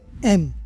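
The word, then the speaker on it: ऐं: तो यह जो मां सरस्वती का बीज मंत्र है ये है एम एम कहते हैं इसको। तो कुछ लोग एंग भी बोलते हैं। कुछ लोग एम भी बोलते हैं। आप एम बोल सकते हो।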